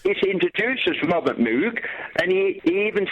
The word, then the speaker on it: Moog: Yeah, in Germany it's a fairly common name and there it's pronounced Moog.